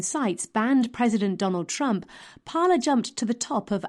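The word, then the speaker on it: Parler: concentration of power online parlor a small but rapidly growing social network is an unlikely candidate for liberal sympathy pronounced parlor it gained popularity mainly with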